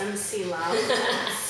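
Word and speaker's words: McLeod: It's pronounced MC Loud. Terra MC loud.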